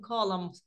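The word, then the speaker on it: column: sentences using Words from colum colums One Two and Three До речі це слово читається colum Можливо я вже читала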